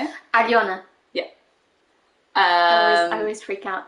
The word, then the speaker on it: Aliona: So al like pal, right? Pal. Yo like yogurt, and na like na. Like it's not easy. It's Aliona. Yeah. Aliona. Yeah. Yeah. Not Aliona, no.